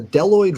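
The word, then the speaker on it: bdelloid: degenerate like that so the deloid rotifers which is spelled with a b it's b-d-e-l-l-oid rotifers so they have one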